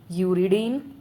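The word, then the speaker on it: uridine: तो उनको सीन में प्रोनाउंस नहीं करेंगे। उनको करेंगे साइटडीन, साइटडीन, यूरडीन, यूरडीन एंड थाइमिडीन।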